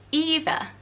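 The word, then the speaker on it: Aoibhe: For girls, how about the Irish name Eva? So Eva over in Ireland is spelt A-O-I-B-H-E, and it's just so different to look at spelt that way.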